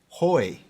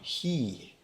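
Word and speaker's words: οἱ: in the masculine case the nominative plural article is hoy using erasmus pronunciation or he using modern greek pronunciation the masculine plural genitive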